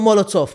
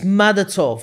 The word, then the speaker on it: Madatov: Yeah, it's not Molotov, mate. There you go again. There's another one. Is it Manatov? It's another one. It's Madatov. Manatov. Yeah, Madatov.